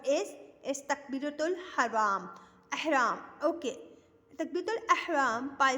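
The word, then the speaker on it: تكبيرة الإحرام: After attention, there is takbiratul haram. What is takbiratul haram? Ihram. Okay. Takbiratul ihram by saying Allahu Akbar, standing, and how we say this?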